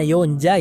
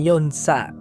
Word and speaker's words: Yonja: Ya, pengucapannya adalah Yonja, bukan Yonsa.